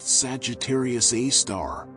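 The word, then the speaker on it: Sagittarius A*: Most interesting was very compact bright radio source called Sagittarius Asterisk pronounced Sagittarius A star tiny region no larger than Mercury's orbit emitting tremendous energy amounts.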